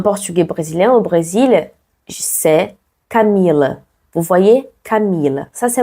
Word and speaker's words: Camila: Le plus fort, c'est le mi, parce que c'est l'avant-dernière syllabe.